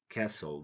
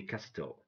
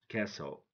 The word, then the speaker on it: castle: consonant I mean when we have three succeeded consonants we drop the middle one we don't pronounce the middle one like handkerchief Castle don't say Casto Castle handsome don't say handsome